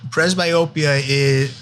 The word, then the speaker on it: presbyopia: And they were talking a lot about presbyopia. Am I pronouncing that right? Yes. What is that? And is that a part of what you treat also? So presbyopia that's the age-related changes that we talked about